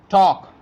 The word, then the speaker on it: talk: silent in this word talk you can see here L used before K so L is silent in this word talk cough calm chalk